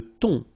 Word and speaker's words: thon: Le thon. Remember, H here is not pronounced.